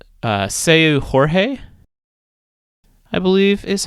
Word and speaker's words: Seu Jorge: And then if you're really having kind of a chill get together, Seu, let me make sure I pronounce this right. Seu Jorge, I believe is how you say his name.